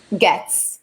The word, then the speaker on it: Goetz: How do you pronounce it? Goetz.